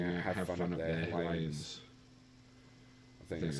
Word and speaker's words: Hylians: With PlayStation also sending out have fun up there, Hellions. I think that's how you say it. Hylians, I think. Hylians, yeah.